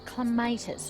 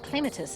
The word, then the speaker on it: clematis: One of the most popular climbers is the clematis, or clematis as some people pronounce it, and it's pretty easy to see why it's so well loved.